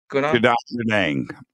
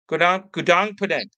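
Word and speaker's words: Gunung Padang: Gunan Punang. Gunan Punang.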